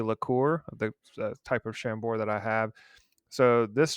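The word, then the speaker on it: Chambord: the the pronunciation but I think it is called shambor uh with a with a d at the end I believe that's French it's a it's kind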